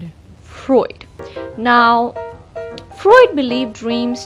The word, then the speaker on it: Freud: So there are, 2 main theories of dream interpretation put forward by Carls Gustav Jung and Sigmund.....(I pronounce it frood lol) "Freud" ....Freud Now Freud believed dreams to be a